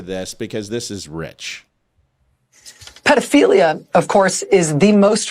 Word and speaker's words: pedophilia: You're saying it wrong when you say pedo. It's pedophilia. It's ped as in pedal.